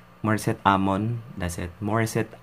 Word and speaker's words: Morissette: I'm on that's it Maurice it I'm one that's how you pronounce it mother said I'm one